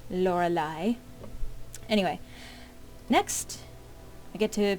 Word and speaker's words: Lorelai: By the way, that is how that's pronounced. Lorelai.